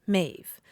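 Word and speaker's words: Maeve: a little bit unusual you called her ma m AE V yes mave but since then the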